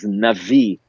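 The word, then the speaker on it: נביא: Nun Bet Yud spells Navi, which is how we pronounce the word prophet.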